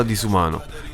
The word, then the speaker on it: Disuman: Nasce dalla parola disumano. In pratica scrissi questo nome napoletano su un muro, togliendo la O finale, quindi si legge disuman, disuman.